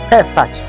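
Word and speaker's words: פסח: Eh pasaka linatokana na neno la kiania linalotamkwa pesach.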